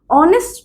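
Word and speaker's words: honest: অনেস্ট ম্যান যখন আমি বলি তখন এইচ এর উচ্চারণ কিন্তু সাইলেন্ট। এই তখন সাইলেন্ট।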